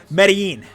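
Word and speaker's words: Medellín: Try that L like you would pronounce tortilla. Oh, Medellin.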